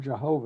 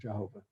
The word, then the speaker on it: Jehovah: around for proper vowels we use the vowels for another hebrew name for god adonai and you put that together and you get uh h or a y-a-h-o-w-a-h-a-i h and change the in the pronunciation the y to the j and so you get this kind of hybrid word or combined word uh jehovah okay let's move on